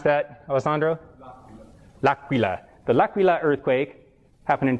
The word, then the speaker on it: L'Aquila: How do you pronounce that, Alessandro? L'Aquila.